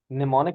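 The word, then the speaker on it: mnemonic: हैं फर एमल एशन बेटा am silent है यह साइलेंट है साइट निमोनिक ठीक है एडवांटेज इसके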